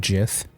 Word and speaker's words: Gith: Also, I believe it's pronounced Gith.